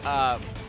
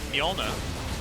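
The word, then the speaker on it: Mjölnir: Or is it like Moltenor? Thor's hammer? How do you pronounce it? Oh, Mjolnir.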